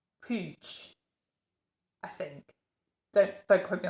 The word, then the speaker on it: Puig: If you're not Catalan, then this looks like a certain word, but actually when you say it, it sounds completely different to English speakers. So I think it's pronounced Puig, I think.